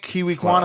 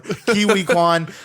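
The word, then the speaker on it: Ke Huy Quan: I mispronounced this uh kiwi Quan I think kiwi Kuan I think is how you pronounce itan Quan yeah well KY whatever kiwi Kuan W it and we did call this I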